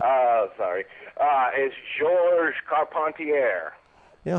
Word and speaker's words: Carpentier: man or gorgeous george american fans went to the trouble of pronouncing his name correctly car pontiere um now the one